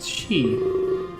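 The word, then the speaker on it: 四: the explanation lies in Japanese number four could be nut is can be pronounced she it's the same as same death she smiles and giggles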